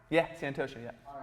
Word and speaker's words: Santosha: So we're Santosha. Saying it right? Yeah, Santosha, yeah.